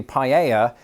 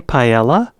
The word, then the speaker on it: paella: originally silent in French the way Americans pronounce the L's differently when they say paella is very much in line with how they do it in Spain our own British offering